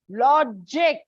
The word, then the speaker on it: logic: Likewise, logic. Again, disyllabic word. So on the first, this.